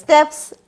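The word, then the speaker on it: stapes: অসিকলস, incus, malleus and স্টেপস। Incus and malleus কোন আর্চের derivative? First arch. আর স্টেপস অথবা কেউ কেউ উচ্চারণ করে স্টেপিস, নো প্রবলেম, তুমি স্টেপস বলো, স্টেপিস বলো, দ্য সেম থিং।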